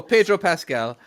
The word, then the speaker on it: Pedro Pascal: So Pedro Pascal, correct?